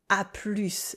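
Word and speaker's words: à plus: And also a plus, see you later. This one is short for a plus with an S sound at the end.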